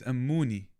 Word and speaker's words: Amuni: I've been calling you a a money. I've been calling you a money. It's a mooney.